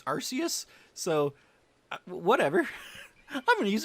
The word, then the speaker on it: Arceus: to the discord that uh in english it's arceus but in japanese it's arceus so whatever i'm gonna use them interchangeably but